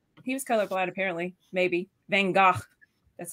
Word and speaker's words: Van Gogh: Van Gogh.